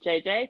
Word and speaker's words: Djedje: Yeah, so my last name is pronounced Djedje, like two-letter J's.